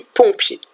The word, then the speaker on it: pompier: Alors, deux syllabes pompier. Pompier. Pompier. Alors, qu'est-ce que j'entends? La syllabe pont, au début, pont. Pour aller au-dessus de la rivière, pont. Et pied, comme nos pieds. Regardez. Pont, pied.